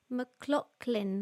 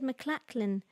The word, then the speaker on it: McLachlan: um trevor says fyi name is pronounced mclaughlin sorry thank you very much thank you mclaughlin what did i say mccl what did i say my i said mclachlan yeah sorry because it's